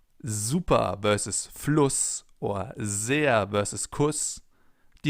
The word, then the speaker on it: Fluss: Because in front of a double S, the vowel is always pronounced short, as in Fluss or Kuss, for example. If we would take a sharp S here instead, it would be Fluss or Kuss. But it's Fluss and Kuss.